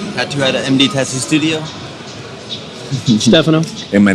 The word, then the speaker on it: Stefano: Stefano is the American way. So it's not actually have an accent on the E, but doesn't exist in the keyboard in English.